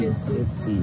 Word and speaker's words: IFXY: Oh, that's how you pronounce it. Yeah, Ipsy. Ipsy. Ipsy, yes, yes.